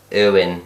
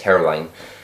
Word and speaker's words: Hirwaun: I am from a little village in South Wales called Irwin, if you're from there, but if you can say it properly, it's Hirwaun.